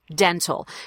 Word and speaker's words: dental: word I do recommend that you you actually pronounced the tea as a true tea dental you will hear various dialects in America say